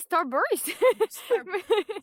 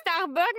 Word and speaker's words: Starburst: Ouh, OK, Starburst. Moi, je dis Starbucks, mais c'est clairement moi qui le prononce mal.